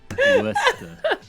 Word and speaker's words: Worcester: Because it is not spelled like Worcester. W-O-R-C-E-S-T-E-R. Worcester. Worcester, right. Yeah, we're just forgetting all of those middle letters there. If you come and you call it Worcester, you will get laughed at.